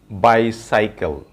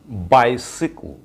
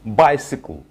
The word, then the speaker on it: bicycle: এই ওয়ার্ডটির pronunciation আমরা করি bicycle, bicycle. But in English, the pronunciation of this word, the right pronunciation is bicycle, bicycle, bicycle, bicycle, bicycle.